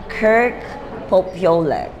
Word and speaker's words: Popiolek: City, the ever beautiful, Kirk Popiolek. Yes. Did I pronounce it well? Yes, you got it right.